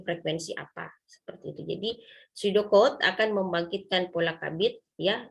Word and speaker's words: pseudocode: Pseudocode itu begini. Kode apa itu pseudo ya? P di depannya, tapi kalau bahasa Inggris kan P-nya itu tidak dibaca di depan, silent letter ya. Jadi pseudocode.